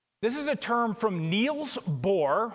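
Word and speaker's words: Niels Bohr: This is a term from Neil's Boore, which I suppose if we're going to pronounce it the right way, we go Neil Boore. That's my best Swedish chef version of it.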